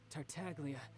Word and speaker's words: Tartaglia: Like I said, I can never pass on an opportunity to test my limits, and that's why I, Tartaglia, am always It's a getting hard G.